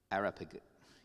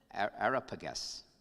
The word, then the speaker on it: Areopagus: ideas with this council called, I'm going to mispronounce it, Areopagus. Yeah, I got it wrong. Areopagus.